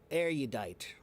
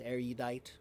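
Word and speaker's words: erudite: But I think I pronounce it more with the U sound. Arudite.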